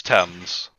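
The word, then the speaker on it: athame: know what that is it was not pronounced as a team like with the teams i don't know or the terms it's thames okay so edge hams attends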